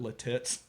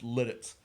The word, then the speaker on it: Lititz: and he called it latits and the thick producer's like i don't think it's pronounced that way regis he's like oh it's like it's pennsylvania like german it's lititz but uh that is